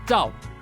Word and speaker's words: Zhao: So in Chinese, it's pronounced as Zhao.